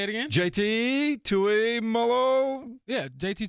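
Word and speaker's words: Tuimoloau: JT Tui Molo. Yeah, JT Tui Molo.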